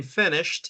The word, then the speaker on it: finished: So the ed here in finished is a clear t in the pronunciation.